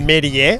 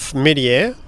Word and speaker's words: Méliès: I'm not going to pronounce his last name correctly. Méliès or Méliès. Perfect. Méliès.